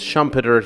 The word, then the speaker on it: Schumpeter: But for you know the purposes of this episode I'll refer to him as Shumpeter. He lived in the United States produced most of his work in the US. So, I think that's a fair pronunciation.